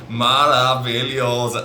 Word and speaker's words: maravilhoso: So you got 5 syllables, maravilhoso, and it just sounds more incredible, more marvelous.